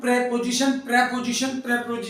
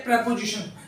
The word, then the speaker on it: preposition: प्रेपोजिशन इसका प्रोनाउंसिएशन क्या है? प्रेपोजिशन, ठीक है। प्रीपोजिशन भी बोल देते हैं, लेकिन ज्यादातर इसका जो सही प्रोनाउंसिएशन है वो प्रेपोजिशन है।